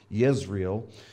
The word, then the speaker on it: Yisrael: sounds like Israel the the Jay's in Hebrew are actually pronounced with a with a Y so be Yisrael Jezreel was a city